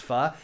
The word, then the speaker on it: pho: is his pho soup pho believe it's pronounced fuh and you know how